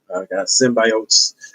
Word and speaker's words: symbiotes: venom movie and symbiosis gotta say it like that now can't say Cindy it's symbiotes yeah yeah anything I